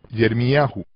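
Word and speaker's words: ירמיהו: En lugar de Jeremías, en hebreo es Yermiyahu, con el énfasis en Yah.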